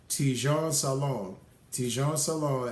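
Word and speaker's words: Tidjane Salaün: 6th was, and I made sure I pronounced this correctly, Tijon Salon, and went to the Hornets, pairing him up with Melo Ball.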